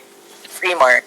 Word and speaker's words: Freemar: I pronounced that right? Freemar. Yes, there you go.